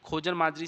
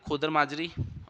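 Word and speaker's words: खोदरी माजरी: कहाँ से करती है, खोजर माजरी से जो है एंटर करती है। प्रोनाउंसिएशन देख लेना, खोदर माजरी होगा इसका ना, ठीक है।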